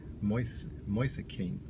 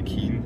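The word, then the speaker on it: Moise Kean: Ronaldo, because Kane is Moise Kane is in such a good form. But Harry Kane, Moise Kane. Although it should be Keane. I think it's just Italian pronunciation.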